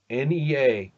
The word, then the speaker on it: Nea: Nea with an accent on the E.